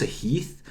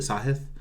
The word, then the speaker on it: Sahith: Hoagie and sahith so I thought it was a heath and I heard the interview afterwards Tom Hoagie I assume he knows how to pronounce it played with him you know for